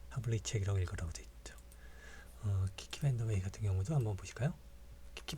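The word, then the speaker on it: Kiki Vandeweghe: 키키 밴더웨이 같은 경우도 한번 보실까요? 키키 밴더웨이 같은 경우도 상당히 어려운 이름이죠. 예. 키키 밴더웨이라고 읽으라고 나와 있습니다. 강세는 밴 그리고 첫 번째 키에 있다는 것.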